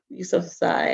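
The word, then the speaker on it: Yousafzai: And this was written by Malala Yusuf Yusuf Sai, I believe is how it's pronounced, and illustrated by Kara Scott.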